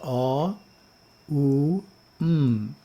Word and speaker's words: Om: As a mantra, it is pronounced A, U, M.